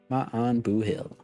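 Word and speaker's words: maith an buachaill: or good on you the pronunciation is ma booill man booill my on booill Shan shance and shance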